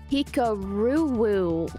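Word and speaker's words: Hikaru: chess someone um suggested i perhaps call you hika roowoo what are your thoughts on that i prefer i mean i'm used to i've heard a lot of french people say my name the other way so i actually like it i prefer it that way so that's better that's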